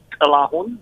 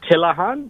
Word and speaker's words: Tilahun: Ethiopian name, which is Tilahun, which is pronounced with the... You got to make that noise when you pronounce it.